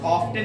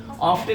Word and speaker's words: often: क्या लगाओगे, ही हैज, ऑफ्टन नहीं कहोगे, ऑफन पढ़ेंगे, ऑफ्टन अमेरिकन इंग्लिश में पढ़ते हैं, नो साइलेंट है, लेकिन आप ब्रिटिश इंग्लिश पढ़ते हो तो ओ एफ के बाद टी रहेगा तो हमेशा साइलेंट करोगे, ठीक है ना, जैसे